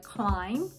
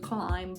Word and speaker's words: climb: Pa tako, kada izgovaramo reč popeti se, izgovorit ćemo je climb, a ne climb.